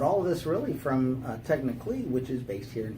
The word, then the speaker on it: Technical.ly: The first is Technically, which David has been saying this whole time. Technically, but it's spelled technical.